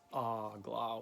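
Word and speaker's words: AGLA: do the vibration, and it's ah-gla with the emphasis at the beginning, the first syllable. So ah-gla.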